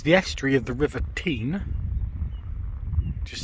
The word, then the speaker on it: Teign: yes that is the estuary of the river teen just say it again team the river teen flower flows flows through or past drew stanton